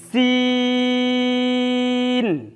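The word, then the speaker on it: سين: অক্ষরটি উচ্চারণের স্থান জিহ্বার আগা নিচের দাঁতের পেটের সাথে লাগিয়ে 4 থেকে 6 লিপ টান, ঠিক এইভাবে সিন, সিন।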